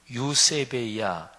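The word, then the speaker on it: εὐσέβεια: 경건 이란 단어는 신약성경의 헬라어로 하면 유세 베이 야 이렇게 발음합니다 근데 이거는 글자 그대로의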